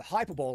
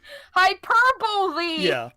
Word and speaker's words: hyperbole: I'm perfectly fine with hyperball and exaggeration in I did in the very way people re entitled my video more hyperball hyperball I pronounced it like R to be funny hyperbole you never heard that